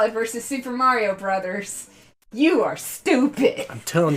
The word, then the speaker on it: Bros.: It's Bros. Pronounced Brothers. Millennials. That's right. I'm calling you out. All you speedrunners who call it Mario Bros., that's incorrect.